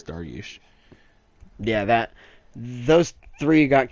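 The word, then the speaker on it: Dariush: I'm gonna say duration I've heard of that guy that's why I knew how to pronounce his last name I'm just I'm pretty sure it's dargush yeah that those three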